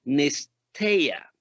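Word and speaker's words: νηστεία: En el hebreo griego viene de una palabra que se podría pronunciar como nesteia.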